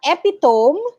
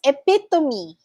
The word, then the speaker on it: epitome: come okay and then it's not epitome it's epitome epitome epitome all right and then